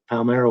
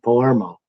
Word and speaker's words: Palmeiro: Then Jonathan Traum says, when people said that the reason the Cubs traded Rafael Palmeiro was because Carey couldn't pronounce his name right and kept calling him Palermo.